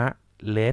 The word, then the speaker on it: เมล็ด: เสื้อ ชนิด มี เมล็ด คำ นี้ นะ ครับ อ่าน ว่า มะ LED สี ธรรมชาติ คำ นี้